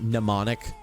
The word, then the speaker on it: mnemonic: and mnemonic and graham it has an m in front of it but you pronounce it mnemonic just get rid of the m mnemonic that's how you say it um they're gonna